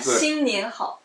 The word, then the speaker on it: 新年好: If you would, I want to pronounce. Yeah, 新年好.